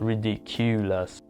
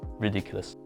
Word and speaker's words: ridiculous: you some examples ridiculous the accent or the stress is on D so it's not ridiculous or ridiculous it's ridiculous environment the accent is